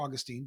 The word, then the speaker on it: Augustine: just recently talked about Saint Agustin or Augustine depending on how you pronounced want to pronounce it st.